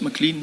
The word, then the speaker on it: McLean: McLean, not toothpaste, McLean, but the A in out.